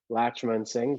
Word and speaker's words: Latchmansingh: my instagram handle is my last name but it's broken up phonetically because some people have trouble saying it it's latch l-a-t-c-h dot man m-a-n dot sing s-i-n-g so it's latch man sing but dots in between